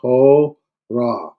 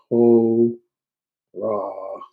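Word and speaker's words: ὥρα: h means hour um notice a rough breathing ho ra two syllables H ra uh and so it's like ho ra all uh and uh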